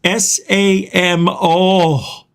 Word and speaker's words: Samo: It's S-A-M-O. Samo. That's how you say it when you see it spelled that way from now on.